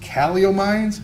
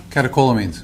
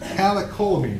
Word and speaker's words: catecholamines: The CEW allegedly causes great pain, and this led to increased caliomines. How do you say that? Maybe you can help me out. Okay, thank you. Catecholamines. Catecholamines.